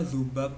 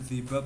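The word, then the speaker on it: ذباب: Terus keubab itu bacanya zubab ya. Itu hewan lalat itu zubab itu nyamuklah, zubablah. Heeh. Bukan zibab ya bukan tapi zubab.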